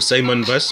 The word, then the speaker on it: Simon Baz: Lui c'est Simon Baz, ou Simon Baz, on prononce à l'américaine.